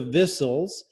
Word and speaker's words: Vissell: tell you this, but our name is pronounced Vissells. Thank you very much. Vissells. I took French, and that very good. Good for you. So that's thank you very much. It's okay. Most people say Vissel, and it's fine.